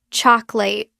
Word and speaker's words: chocolate: You look at a word like chocolate, and you see three distinct syllables, choco. But when you hear an American say it, it sounds like chocolate, two syllables.